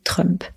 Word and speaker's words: Trump: Trump c'est Donald Trump la prononciation française est un peu différente on dit Trump il faut comprendre que